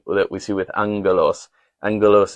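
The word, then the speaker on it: ἄγγελος: Angalos is spelled with a double G. So, you pronounce it angalos.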